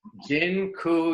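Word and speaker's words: dziękuję: just taught you all the Polish word for thank you it's Jin ku yeah that I'm not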